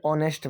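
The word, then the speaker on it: honest: कुछ शब्दों में एच साइलेंट होता है इसलिए एन लगता है, क्योंकि एच साइलेंट होने की वजह से उसका साउंड बदल जाता है। एन ऑनेस्ट मैन, एक ईमानदार आदमी।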